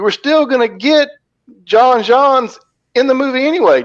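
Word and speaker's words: J'onn J'onzz: You were still going to get John Johns in the movie anyway. John Jones, as we would pronounce it, whatever, John Jones.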